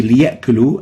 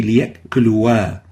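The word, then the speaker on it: ليأكلوا: In here, the alif in the liya'kulu is not pronounced. So we say liya'kulu and we don't say liya'kuluwa.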